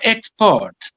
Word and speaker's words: export: For example, export. It can be noun and verb. As a noun, the stress falls on the first syllable, so export. Export. But if you're sending, export. Export, not export.